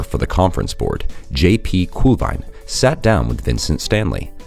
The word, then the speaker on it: Kuhlwein: Kuhlwein, so you hear it in the original pronunciation just once in this conversation.